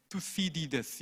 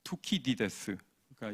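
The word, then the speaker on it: Thucydides: 이 그레이엄 앨리슨을 그 테드 강연 같은 데 찾아보면 저 발음을 미국식으로 하고 있습니다. 투시디데스 이렇게 얘기하는데 이제 그리스 사람이고 저희 과에 있는 이제 그리스사 선생님께 여쭤보기도 했고 그런데 투키디데스가 이제 그쪽 발음입니다.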